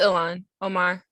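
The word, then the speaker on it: Ilhan Omar: um congresswoman omar um i don't want to mispronounce her name um oman yeah i believe it's ilan omar omar yeah um i saw that her office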